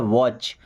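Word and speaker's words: watch: देखिए यहां पर अभी टी साइलेंट है। क्या पढ़ना है? वॉच।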